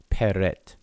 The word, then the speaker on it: prt: have a tentative pronunciation, they just stick an E in between all the consonants. So this word would be pronounced peret.